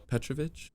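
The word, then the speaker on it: Petrović: you say his name uh Bob donovich oh petrovich Croatian guy petrovich yeah exactly yes yup petrovich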